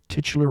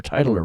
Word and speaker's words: titular: Jenna Ortega in the titular role or titler role. I hear it pronounced both ways. So, I guess it probably depends on what part of the world you come from.